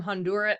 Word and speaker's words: Honduras: We are back from Honduras. How do you say Honduras? Nice, like the right way. Honduras? Honduras. Honduras? Honduras? Yeah. Yeah. Honduras? You got the tongue roll?